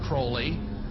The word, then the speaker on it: Crowley: he likes to bring have his name pronounced crowley to rhyme with holy and the satanists today